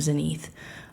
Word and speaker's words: Zenith: In English, you would pronounce it, you would pronounce it in regular English, Zenith, but we tell people to pronounce her name Zenith.